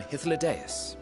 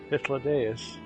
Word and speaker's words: Hythlodaeus: I am Hythlodaeus, Chief of the Bureau of the Architect.